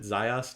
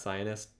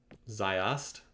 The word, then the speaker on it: Zaius: we do anything else oh is it Zaius not Zionist I'm sorry mispronouncing that sayest all right still just